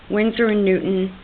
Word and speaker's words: Winsor & Newton: and rabbit skin glue, or you can use Winsor & Newton Designer's Gouache, Gouache, but it's pronounced gouache.